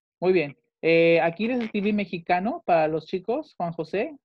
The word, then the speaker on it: mexicain: Aquí les escribí mexicano para los chicos, Juan José. Ustedes dicen mexica, ¿ok? Mexicano se pronuncia mexica. Tienen que decir, je suis mexica.